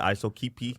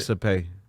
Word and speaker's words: Isopay: Hey, bro, first off, you said my last name totally wrong, bro. Hey, bro, That's your last name? that's not it. I didn't pronounce It's it right. Isopay. It's ISOPay.